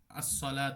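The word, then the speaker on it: الصلوة: যে শুধু আলিফ না যেমন ওয়ার বিষয় যেমন আসসালাত আমরা পড়ি যে শুধু লাম উচ্চারণ হয় ওয়া টা উচ্চারণ হয় না এটা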